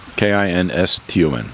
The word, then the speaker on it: Kinston: How do you pronounce the town? Because I'm not a linguist. Kinston. Is it Kinston? Yeah, Kinston.